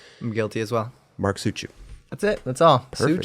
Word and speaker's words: Suciu: Mark Suciu.